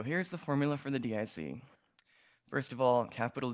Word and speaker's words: DIC: information criterion or dic which is pronounced dic just to be clear so the reason for